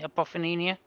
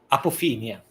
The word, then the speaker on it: apophenia: Okay, if I can just get in the meaning of how do you pronounce that word again? Apophenia. Apophenia. Apophenia Yeah.